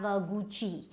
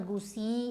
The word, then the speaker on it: Gucci: Okay, now the foreign brands are mostly French, like we have Gucci, so it's not Gucci or whatever you might call it, Gucci.